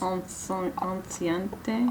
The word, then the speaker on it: enceinte: Anciente. Not enceinte, because Enceinte. that would not be French.